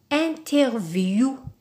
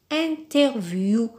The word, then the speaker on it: interview: oui ici par exemple comme le mot interview interview c'est un mot d'origine anglaise découvrant alors des mots qui